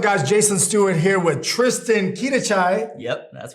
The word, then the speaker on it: Tristan Quidachay: Jason Stewart here with Tristan Quidachay. Yep, that's right. I'm pronouncing it right now.